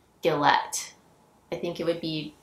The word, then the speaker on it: Gillett: TT so maybe it's Gillette I think it would be Gile if it was only one tea but anyways this is gorgeous